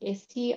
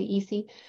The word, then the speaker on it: ISI: We all pronounce this a little differently, but one of them is ISI, I-I-S-I. I say ISI, some people say EC.